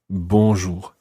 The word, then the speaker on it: bonjour: have the same beginning it's the word bo b-o-n and it's that nasal sound bonjour however when we come